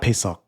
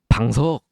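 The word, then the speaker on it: 방석: PaySock? Not PaySock. Ah. the pillows you put on the floor. Bangsuk! Bangsuk, yeah.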